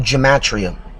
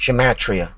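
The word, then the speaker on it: gematria: addition anyway fact number one there's something called gatria write it down it's spelled g e m a t r i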